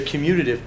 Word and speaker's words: commutative: a c property close you're emphasizing the wrong syllable but the wrong syllable but it's close yeah it's it's the commutative property like you commute down